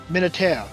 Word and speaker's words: Militaire: The reason why we think it's military is because the word itself is French. So us actually pronouncing it, that's how you pronounce it in French, but in English it would be military.